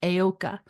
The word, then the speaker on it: Heyoka: you want to look this up, but it's pronounced Heyoka.